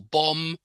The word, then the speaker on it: bomb: the W in Sword don't pronounce the b in comb or bomb I mean we have